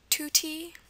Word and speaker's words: tutti: And this is pronounced oo oo. And the spelling is very simple. It's going to be spelled with a u um all the time. Okay. Spelled with a u. Um, examples are Tutti. Tutti. Um, it's very similar to my name Stuty, but Tutti is an example. The um U for the ooh sound.